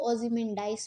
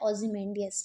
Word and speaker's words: Ozymandias: इसको कुछ लोग ओज़िमेंडाइस भी पढ़ते हैं बट ओज़िमेंडाइस मेरे ख़्याल से तो करेक्ट नहीं है। बहरहाल इंग्लिश की डिफरेंट प्रोनाउंसिएशंस होती हैं और डिफरेंट प्रोनाउंसिएशंस को करेक्ट माना जाता है। सो मेरी तरफ से तो इसकी जो प्रोनाउंसिएशन करेक्ट वाली है वो है ओज़िमेंडियस, ठीक है।